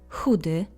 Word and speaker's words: Chudy: Chudy, skinny. Chory, ill. Note that CH is always pronounced as H. Avoid the tendency to pronounce CH as K or Ch.